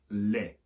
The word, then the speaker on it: lait: They haven't just got rid of the C, they've also got rid of the sound of the T as well. You can still see it written there, but the sound's gone altogether and it simply ends up being lait.